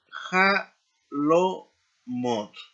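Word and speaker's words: חלונות: Y la terminación plural es ja lo mot. Jalomot.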